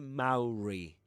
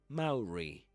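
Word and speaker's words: Māori: Nationality, and let me double check the pronunciation. Maori. Actually, Maori. Maori.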